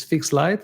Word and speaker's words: Fixlite: The name of course is not fixed light. It's a kind of it's f iix l i t e. It's fixed light. is like you pronounce it in the same way.